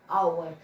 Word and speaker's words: hour: क्योंकि वो how we speak hour, we use or we spell like O, because H is silent. We pronounce it as hour.